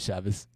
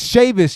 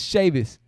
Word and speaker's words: Chavis: my name my bad chavez i know i think it's chavis it's sheavis y'all it's sheavis dimitri said wow truth